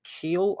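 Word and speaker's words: Kiel: jaws so uh richard keel i hope i'm pronouncing that right i'm going with the germanic pronunciation of the surname with that one um i mean he's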